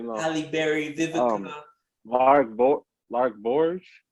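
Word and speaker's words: Lark Voorhies: Lark Borge. That's how you pronounce her name.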